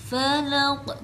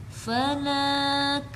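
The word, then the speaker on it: فلق: Falaq bukan falak atau falaq. Tidak ada yang dipanjangkan di sini karena tidak ada alif setelah lam. Jadi tidak boleh dipanjangkan.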